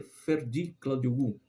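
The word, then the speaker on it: Ferdi Kadıoğlu: seleção da Turquia né o Ferd kadioglu é assim que pronuncia Ferd cladi guu tercino Eu não vi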